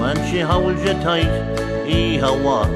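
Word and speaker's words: Oíche mhaith: When you leave her home and she holds you tight, ee-ha-wa is how you say goodnight.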